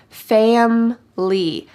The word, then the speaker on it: family: notice the pronunciation here in fast English we drop the middle I fam Lee family I love spending time